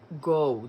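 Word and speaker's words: Veronica Ngo: last jedi it's veronica go the n is silent it's ngo but the n is silent it's go but that's the real way to pronounce it anyway i recommend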